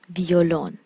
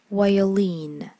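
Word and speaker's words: violin: وایولین، وایولین، ویولون، ما توی فارسی بهش میگیم ویولون ولی توی انگلیسی تلفظ میشه وایولین، وایولین.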